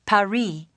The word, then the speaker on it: Paris: Yeah, well, the locals pronounce it Paris.